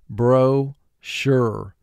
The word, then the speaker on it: brochure: and it looks great bro sure now for spelling pronounce it bro sure two syllables first syllable bro with three sounds sure three sounds sh u er bro sure mark the